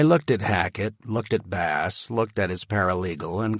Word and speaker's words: Bass: To his right was another partner that I recognized from Hackett's firm's website, Gregory Bass, pronounced like the fish, not the guitar.